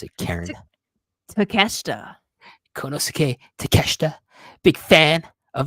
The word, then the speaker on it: Takeshita: How do you pronounce it, Karen? Takeshita.